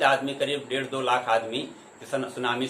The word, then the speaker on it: tsunami: तो सुनामी लहर, जो सुनामी होता है ये जापानी शब्द है, तो इसका इंग्लिश होती टी से लिखा जाता है, TSUNAMI, लेकिन यह टी साइलेंट होता है तो सुनामी का नाम जानते हैं, जापानी शब्द है ये सुनामी।